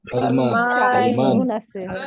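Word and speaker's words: سلمان: সুলাইমানু Salma সালমান সালমান right, সালমান সালমান সালমানু, তাই না? উচ্চারণটা হবে এটা সালমানু।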